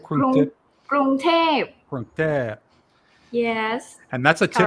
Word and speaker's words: กรุงเทพ: กรุงเทพ Krung Thep.